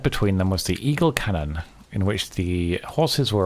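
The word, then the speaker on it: cañon: them was the Eagle Cannon, in which the horses were awaiting them. I guess it's pronounced canyon, because it's got the little N squiggling accent, hasn't it?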